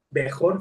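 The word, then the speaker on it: בכור: La palabra, la palabra pronunciada Bejor, fíjense, Bejor, luego lo vamos a ver en las clases de hebreo que ya tienen, primeramente el Eterno.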